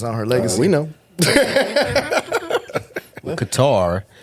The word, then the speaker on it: Qatar: Qatar, very common in North American media through the shifts of the stress of the second syllable.